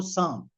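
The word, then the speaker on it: psalm: उसके अंदर भी ये साम वर्ड आता है। पर उसको जो स्पेलिंग उसकी लिखते हैं उसमें पी एस ए एल एम पी एस ए एल एम पर प्रोनाउंस करते हैं उसको साम और उसमें यानी ये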